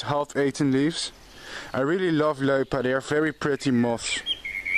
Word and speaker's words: Loepa: Yes, I know you write Loepa, but you pronounce it Loepa.